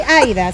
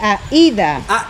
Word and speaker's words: Aída: No soy Aida, soy Aida.